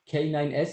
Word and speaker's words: K9s: K9S is pronounced canines.